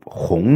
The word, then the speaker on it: 红: 为仄声；下联雨润桃花万点红，红呢为平声。